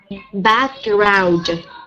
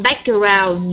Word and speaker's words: background: fool but in tho those words you make some mistake about sections so together so together background background not back around no we need to